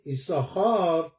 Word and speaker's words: יששכר: به خاطر همین ایساخار در نوشتن می نویسیم دو تا سین، یه ساخار واقعا وجود داره ولی تلفظ نمی کنیم، ما نمی بینیمش.